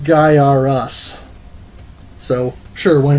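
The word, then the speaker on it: Gaiares: guy our as I remember the ads for this featuring the mullet kid says it's pronounced guy are us so sure why not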